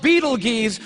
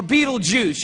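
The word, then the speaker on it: Betelgeuse: heard about this star it's called Beetle Gees or Beetle Juice you can pick your pronunciation ation I'm obviously going with Beetle Juice and Beetle Juice is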